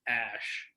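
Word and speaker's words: Æ: one letter and it's it's pronounced ash i don't remember like what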